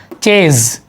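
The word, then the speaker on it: chase: इसमें कुछ एक्सेप्शन भी है कि जिसमें CH का प्रोनाउंसिएशन शा ना होकर के चा होता है। जैसे एक्सेप्शन में है, अपवाद में है चेज।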